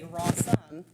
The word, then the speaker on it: Rawsome: And I spelt it Rossome, but people kept pronouncing it like Italian. So they were like, Rawsome, or, they weren't getting it right. So I just changed it to rhymes with awesome, the spelling, and it simplified things.